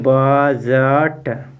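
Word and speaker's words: budget: क्या लिखा है बजट यहां पे डी के बाद जी ई है तो डी साइलेंट हो जाएगा अब इसको पढ़ेंगे बजट क्या है बजट बजट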